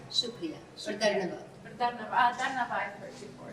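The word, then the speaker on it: Dhanyavad: Or Dharnavad. Dharnava I've heard before. Dharnavad.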